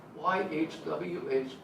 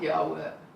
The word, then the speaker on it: YHWH: So if you're willing to disobey my grandmother and 2,000 years worth of rabbis, try pronouncing YHWH with no vowels. It's not Yahweh. It's not Yehovah. No vowels.